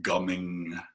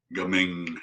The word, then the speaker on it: gaming: It looks like gaming, but it's pronounced gumming. Gaming. Gumming.